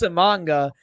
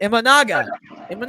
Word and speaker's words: Imanaga: But Jed is trying to be smart, and you see that when he gets a manga for such a bar. Imanaga. You bring. Yes. I had to correct your pronunciation on that.